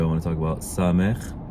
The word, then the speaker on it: ס: So sámekh sounds like S, as in Sierra.